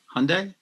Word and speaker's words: Hyundai: good luck WWE I hope your other sponsor hyand is better hope those cars actually work unlike the game can can you pronounce that again for me the that car manufacturer's name hyand Hyundai yeah hyand how you say hyund Hyundai proun